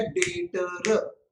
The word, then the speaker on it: debtor: डेटर, DEBTOR। कोई भी बंदा आप में से अगर वापिस मेरे सामने उसको डेटर बोला, बिल्कुल गाउटीगिरी नहीं बच्चों। इसका प्रोनाउंसिएशन क्या है? DEBTOR का प्रोनाउंसिएशन क्या है? डेटर।